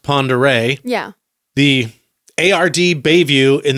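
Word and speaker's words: Pend Oreille: Now, you may know that as the home of Lake, looks like it's spelled Pend Oriel, pronounced Ponderay.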